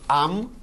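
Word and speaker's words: עם: The first, we pronounce as Am, which is nation.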